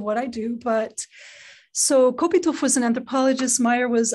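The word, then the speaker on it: Kopytoff: you to mention igor kupita photo do you pronounce his last name oh okay igor kopitov and suzanne myers yes tell us a little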